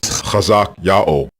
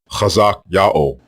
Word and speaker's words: Hezekiah: The way you pronounce the king's name is Chazak Yao, Chazak Yao, and it means Yao is strong.